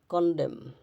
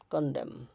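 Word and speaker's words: condemn: শব্দের শেষে এমএন থাকে শব্দের শেষে এমএন থাকলে এরপর কোন vowel I ই ও আই ও ইউ এ ই আই ও ইউ না থাকলে এন এর উচ্চারণ হয় না যেমন সলেম সলেম গুরু গম্ভীর হচ্ছে কনডেম কনডেম ড্যাম ড্যাম হাইম হাম আটাম এরকম শেষের এন উচ্চারিত হবে না আচ্ছা এম এন থাকলে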